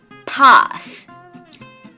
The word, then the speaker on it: path: นะ คะ ทาง เดิน path path th นะ คะ ออก เสียง โดย การ ที่ เรา เนี่ย แลก แบ ลิ้น ออก มา นอก ปาก เรา เล็ก ๆ แล้ว หุบ เข้า ไป อย่าง รวด เร็ว นะ คะ ลอง ดู